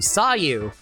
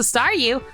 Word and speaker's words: Staryu: was still just a Staryu, I could never pronounce his name right. I always end up sounding like saw you.